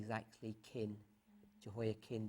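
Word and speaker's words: Jehoiachin: kings and we have Jehoa Chin, we normally say Jehoa Chin, but his pronunciation is actually kin. Jehoa kin. The ch is actually a bit tricky in the Hebrew.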